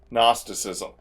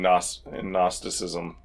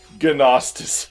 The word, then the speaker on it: gnosticism: is very steeped in gnosticism and I keep having to remind myself that the Geon gnosticism is silent it is a silent G it is not genostis syntheticism have you been